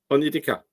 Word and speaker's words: Onyedika: How did you pronounce it? Onyedika. Onyekida.